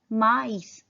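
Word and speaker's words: maïs: एक को हम प्रोनाउंस करेंगे मा ईस, ए का भी साउंड प्रोनाउंस करेंगे और आई का भी अलग अलग, उस पे एम्फेसिस करेंगे। माइस, माइस मीन्स कॉर्न।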